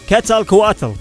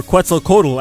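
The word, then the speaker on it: Quetzalcoatl: While Rayquaza's lore is based on the Ziz, he physically looks like a lindworm or the Aztec god Ketal Katal or Quzel Codal as the Americans say, Rayquaza most likely refers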